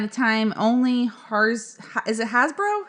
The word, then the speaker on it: Hasbro: And meaning at a time only is it Hasbro? How do you say that? Hasbro, yep.